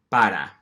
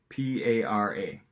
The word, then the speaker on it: para: And it's very tempting for us to say para and just kind of follow the phonotactics of the English language, but you don't want